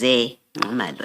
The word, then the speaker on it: Zingumalo: So the correct pronunciation is Zingumalo, as is written here.